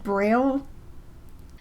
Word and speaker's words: Braille: So we call it Braille, but it was invented by a French guy in 1824, so I guess technically it would be pronounced Braille. I will not be pronouncing it that way.